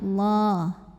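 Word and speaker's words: الله: halus ke hidung Allah atau lam jalalah dibunyikan secara tafkhim sebab huruf sebelumnya berbaris di atas barisnya fathah maka cara bacanya ditebalkan jadi bunyinya Allah Lalu ada hukum alif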